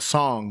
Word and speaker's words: Song: as song or Strong Song. My bad. Brenda, how do you say it? Song like you're singing a song.